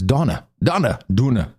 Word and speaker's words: Donagh: And Donna, I asked him how do you pronounce it, Donagh. It's an interesting name. Is that like one of those weird hippie names? That is a Irish name, very old-fashioned. Of course it is.